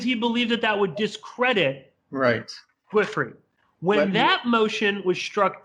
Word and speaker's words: Giuffre: It's Giuffre. It's funny, and I was re-listening to the oral arguments. The judge couldn't pronounce it right either.